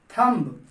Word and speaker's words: thumb: THUMB, लेकिन हम इसे पढ़ते हैं थंब। इसमें भी बी साइलेंट होता है, तो इसे सिर्फ पढ़ना होता है हमें थंब, थंब।